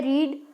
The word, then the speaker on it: read: है, आपको पता है रीड की स्पेलिंग सेम रहती है तीनों फॉर्म्स में, रीड रेड रेड हो जाता है, पर उसको क्या बोलते हैं, रीड फर्स्ट फॉर्म में, रेड रेड सेकंड फॉर्म में, रेड बोलते हैं, थर्ड फॉर्म में भी रेड बोलते हैं, spelling as इट इज ही रहती है, READ, ठीक है।